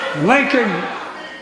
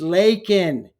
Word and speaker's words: Laken: say her name and what does he say Lincoln Riley like a like a like is Abraham Lincoln right her name is leol he doesn't know about